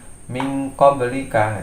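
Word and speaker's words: مِنْ قَبْلِكَ: dan sesuai dengan makhrajnya, ini lebih condong ke suara eng cara membacanya. Jadi seperti suara eng, contohnya di qaf min qablika. Nah, suara eng cuman dia harus kita tekan atau kita hunahkan.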